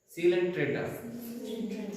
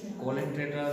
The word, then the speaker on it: Coelenterata: सीलेंट्रेटा, कोलेंट्रेटा भी है उसका स्पेलिंग जैसा, बट इट इज वी are saying सीलेंट्रेटा।